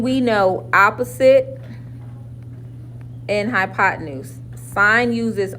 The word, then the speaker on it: sine: One that says SIN is pronounced sine.